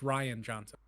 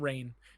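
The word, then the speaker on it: Rian Johnson: his name 100 times it's just ryan johnson it's not rain no no I just spelled Ryan I know you always say rain yeah just to [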